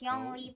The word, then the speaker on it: Xiangling: It's pronounced Yongli pala.